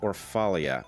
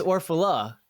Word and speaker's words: Orfalea: pronounced your name correctly that's not it but that is why I go by ORF because it is almost impossible to pronounce correctly in fact if you had pronounced my name correctly which is orphala and anybody had typed